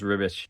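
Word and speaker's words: Ribić: is ribish and it's r-i-b-i-c but I think it's pronounced rubbish I'm I'd grab two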